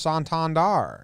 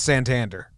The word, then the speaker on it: Santander: found out it's pronounced Santander. And then a lot of the announcers were doing that. And then they're like, wait, never mind. Correction. Bring it back. It's Santander. Like, obviously. Because he's not French.